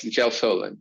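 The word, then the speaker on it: gelsolin: botch the pronunciation of this is gel solin did i get that right or gal solid yes gel solid correct yeah gel solid all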